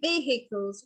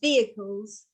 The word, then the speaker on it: vehicles: just heard him say vehicles but that is that's wrong because it's supposed to be a silent h so it's supposed to be pronounced vehicles and there are a